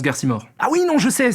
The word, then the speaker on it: Garcimore: Ça se prononce Garcimore.